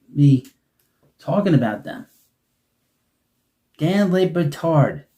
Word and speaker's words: Batard: Dan Batard. Sounds familiar. It rhymes with another word. Someone missing a couple chromosomes.